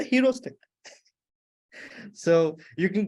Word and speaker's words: heuristics: So it's just like the way you pronounce hero and stick. We do not say heuristic. We cannot say that. Yeah, hero stick.